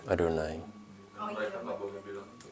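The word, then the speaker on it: Yahweh: Jadi si Yahwe ini enggak dibaca Yahwe tapi dibacanya. Adonai.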